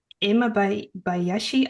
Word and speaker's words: Imabayashi: And I'm here with Katherine Imma Bayashi. I'm so sorry. Did I pronounce that right?